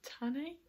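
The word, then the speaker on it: Tané: I really like Adarlan, if that's how you say her name, and then Tane is how you say her name.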